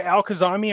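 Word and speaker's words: al-Kadhimi: is well our boy al khazami or al qaeda i'm not sure but i was told it's pronounced with a d and not a z anyways will he make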